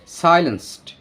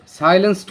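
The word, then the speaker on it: silenced: কণ্ঠস্বর could not বি সাইলেন্সড নাগরিকের কণ্ঠস্বরকে সাইলেন্সড করা যাবে না এটা আমরা সাইলেন্স উচ্চারণ করে থাকি সাধারণত কিন্তু এটার উচ্চারণটা হবে সাইলেন্সড রোধ করা যাবে না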